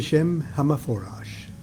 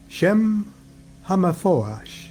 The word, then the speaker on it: Shem HaMephorash: Okay, so the secret of the Shem HaMephorash. That's how Regardi pronounced it. And he was Ashkenazi Jew. Shem HaMephorash is how he pronounced it.